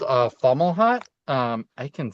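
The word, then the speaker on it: Fomalhaut: It's called uh Fomhut. Um, I can spell it.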